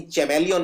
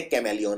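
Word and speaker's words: chameleon: ये बोलते कैमलिन है लेकिन सी का एच का उच्चारण नहीं करते हैं लेकिन फिर भी एक एच आता है यहां पे तो ये है चमेलियोन लेकिन चमेलियोन नहीं बोलते बोलते कमेलियोन है तो यह वाला जो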